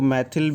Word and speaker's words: मिथाइल: propane Hindi में लेकिन English में प्रोनाउंस मिथाइल लि करते ठीक है तुम्हारा प्रोनाउंस करने का म मैथल भी प्रोनाउंस करो अप टू यू है तुम्हारी इच्छा तोय पह